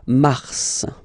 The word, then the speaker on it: mars: Okay, so in a way it's an exception because normally final S is not pronounced in French. Okay, we've got some exceptions, and this one is one of them. So mars, pronounce the final S.